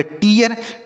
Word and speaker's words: tear: आर होता है तो इसका उच्चारण ई हो जाता है। क्या हो जाता है? ई। तो इसे हम पढ़ेंगे टीयर।